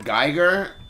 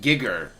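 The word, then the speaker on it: Giger: last night a lot of people call him Geger and I looked it up and I listened and it's pronounced gigger which is way too close to another obvious word.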